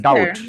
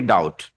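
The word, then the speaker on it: doubt: আমার মনে হয় যে ম্যাক্সিমাম হ্যাঁ ডাউট সবাই পড়ি ডাউট। এখানে কিন্তু সঠিকই পড়ি যে এটাকে বিটাকে উচ্চারণ করি না।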